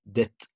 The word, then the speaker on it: debt: نفس الكلام يا جماعة the same don't pronounce the letter B so like debt like doubt subtle okay طيب بالنسبة لحرف